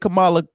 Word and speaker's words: Kamala: hear Cala because some people know how to pronounce her name why you get mad you get Kamala Kamala Harris when you hear Kamala Harris because